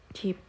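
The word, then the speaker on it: 집: gampang ya yang pertama contohnya cip ini bukan dibaca Jip ya teman-teman ya tapi dibacanya Cip Cip Cip ini dibacanya itu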